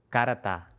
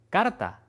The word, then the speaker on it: carta: Para estas palabras, a veces es bueno imaginar que hay una vocal extra, como car-a-ta, y después tratar de simplemente decir esa vocal extra muy rápido hasta eliminarla Cá-ra-ta. Cárata. Cárata. Cárata. Carta. Carta.